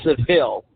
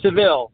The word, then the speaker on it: Seville: And guys, write down this city, Waileka, Waileka, however you pronounce it, Waleka, Florida, and Seville, like Cadillac, Seville. That's how I remember that one very easily.